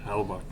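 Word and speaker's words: Hellebuyck: Hella Buck. Is that how that's pronounced? Yeah, Hellabuk.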